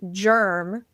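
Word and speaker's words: GRRM: So they used to call him G RM, which is pronounced germ, rhymes with worm.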